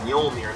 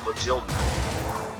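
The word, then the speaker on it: Mjölnir: spelled out for you, the J is pronounced like a Y. Kind of like how in Spanish, the two L's is typically pronounced with a Y sound.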